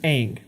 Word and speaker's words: Aang: of the cultural pronunciation the cultural pronunciation would be more like on but in the cartoon